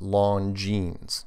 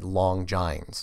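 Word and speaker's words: Longines: on bird the show the long jeans is pronounced long jeans not yeah long giant's yeah I know my god I know I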